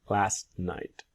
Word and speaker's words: last night: did you finish work last night what time did you what time did you finish work last night and then with last you will see the silent T now we have a